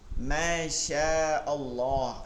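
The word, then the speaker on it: ما شاء الله: মাশাল্লাহ বলতেছেন মাশাল্লাহ মাশাল্লাহ উচ্চারণটা এমন হবে না কি হবে মাশাশিন এর মধ্যে একটা টান আছে মাশা আল্লাহ হ্যাঁ টান যদি নাও দেন পৃথক করে ফেলবেন মাশা আল্লাহ এটা পৃথক করে বলবেন কিন্তু মাশাল্লাহ মানে মাশাল্লাহ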